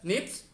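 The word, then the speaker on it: SNP: differences are called a single nucleotide polymorphism which is pronounced as nips so this snips existence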